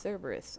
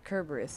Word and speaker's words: Cerberus: cloud and Hades released Cerberus or kerberus as it's supposed to be pronounced yeah apparently it's supposed to be pronounced with a hard K courtesy of super gaming